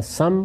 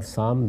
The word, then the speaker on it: سام: یافس دونوں تلفظ ہیں، اسی طرح سم اور سام دونوں تلفظ ہیں۔ ان کی اولاد آگے